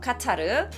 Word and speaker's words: 카타르: 그럼 뭐라고 읽냐? 카타르라고 읽어요. 카타르.